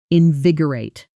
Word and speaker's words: invigorate: Invigorate. A cold shower can invigorate you. Fresh air can invigorate you. Notice the stress here, invig-or-ate.